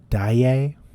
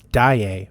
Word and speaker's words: Daye: Apparently, it's pronounced Daye. That's Daye from Pantheon, not Day. Daye.